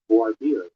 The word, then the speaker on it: voir dire: Voir dire.